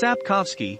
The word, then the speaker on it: Sapkowski: andre i'm not even going to try and pronounce that last name it's sapkowski you blithering who originated from